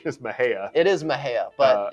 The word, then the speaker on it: Mexia: i called it uh mexia and they said jake it's my hair kind of like my hair although you don't have much hair i i i think the correct the correct pronunciation is mahea it is my hair